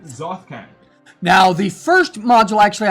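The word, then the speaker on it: Tsojcanth: I'm not about to pronounce that. That is Tsoj... Zothkan. Zothkan.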